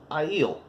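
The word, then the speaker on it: Aiel: to say it because you look at I yield a ie L you don't think that's how to pronounce but it is i'il and you learn that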